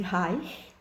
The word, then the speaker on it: Reich: vilã pais na verdade o nome se pronuncia corretamente hi porque ele era de origem alemã e ele foi o